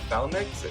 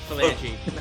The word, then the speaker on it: phalanx: He was first introduced when I always mispronounce this, the phalanx, or phalanx, right? Yeah, there Phalanx. we go. Phalanx. Coming Thank in. you, The thank you. phalanx. The Phalange.